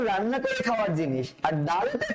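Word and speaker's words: دال: তো দয়ের উচ্চারণ আপনি যেভাবে করেন দ, আপনি যেভাবে করেন ঠিক সেভাবে উচ্চারণ করবেন ডাল, ঠিক আছে স্যার?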